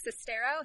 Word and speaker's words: Sestero: Okay, so it's from the co-author of the book, The Disaster Artist, which is a book by Greg Sestero. Is that how you pronounce it?